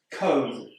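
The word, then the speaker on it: comb: Cone. This word's got a B at the end, but we don't pronounce it.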